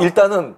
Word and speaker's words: Ihle: 일. 네, 예. 여기 스펠링 보니까 IHLE. 네. 맞아요. 일.